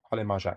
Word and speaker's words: Harley Marzak: Big one was Harley Marzak. Is that how you say it? Holly Marjak, yeah.